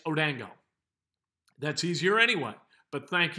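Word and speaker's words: Odeyingbo: buzz for correcting me i kept doing or pronouncing his name odingbo which is kind of phonetic as to the way it's is spelled however it's odango that's easier anyway but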